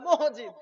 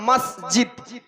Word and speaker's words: মসজিদ: বলেন না মসজিদ বলেন অনেকে আবার মহজিদা বলে মহজিদ বলে মহজিদ সঠিক উচ্চারণটা হল মসজিদ তো মসজিদের উন্নয়নে এ